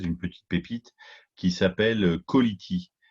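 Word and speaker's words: Ca2lity: J'ai découvert il y a quelques jours une société française, une petite pépite, qui s'appelle Quality. C'est comme Quality, mais Ok. ça s'écrit Quality, C-A-2-L-I-T-Y. En plus, c'est facile de se rappeler comment ça Ouais.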